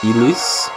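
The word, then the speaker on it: Ylisse: Yeah, there's some big conspiracy trying to overthrow um the the kingdom is Elis. Y L I S S E. I think that's how you pronounce it.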